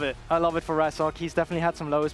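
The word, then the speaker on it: Razork: misfits rookie coming in with the jungle, Razer K cuz we didn't know how to say it properly then. And I love it. I love it for Rasok.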